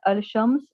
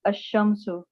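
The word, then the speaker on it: الشمس: When al is prefixed to a noun beginning with a solar letter, the L of al is assimilated to the solar letter. Example, al-shams, the sun, is pronounced ash-shamsu.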